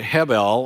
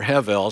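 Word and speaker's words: הבל: The root word here, which is the Hebrew word hebel, or hevel, some people pronounce it, is just the word for breath.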